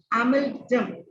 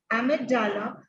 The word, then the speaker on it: amygdala: Part that is called amygdala. AM, that I could spell that word. Maybe the pronunciation may be of the different, right? That is AMYGDALA. That I pronounce as amygdala.